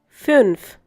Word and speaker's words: fünf: Fünf.